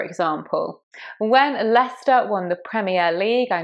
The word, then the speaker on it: Leicester: But coming back to Leicester, it's just said Leicester. All those other confusing letters, just forget them. It's just Leicester. You don't say that C, for example. When Leicester won the Premier League,